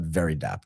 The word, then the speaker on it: Veridapt: But before we dig into that in detail, Tyro, tell us a little bit about Very Dat. Did I pronounce that right?